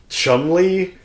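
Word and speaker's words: Cholmondeley: that old English kind of, like, spelling and pronunciation. Chumley, that...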